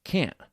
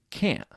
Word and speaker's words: can't: United States of America Americans often don't pronounce the T in can't like can't do you hear the difference can't I can't I can't